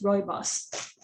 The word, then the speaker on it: Rooibos: meant to be pronounced it's meant to be pronounced almost like roy and then boss roibos um and it's been